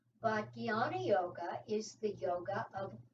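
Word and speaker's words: jnana: other types of yoga another one is yana yoga that's j n a n a is the way it's usually spelled sometimes it's spelled with a g but guyana yoga is the yoga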